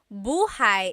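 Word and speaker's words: buhay: Shir said I always make a mistake with bah and so bahigh is house buhai is your life.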